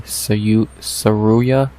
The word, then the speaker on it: Tsuruya: Carlos Hernandez versus Ray Tsuruya. I believe that's how you say it. You don't say the T, kind of like Arman Tsarukyan.